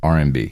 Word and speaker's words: RMB: That's how you pronounce it, RMB.